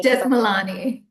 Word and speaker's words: Jethmalani: Death Milani. Beth Milani.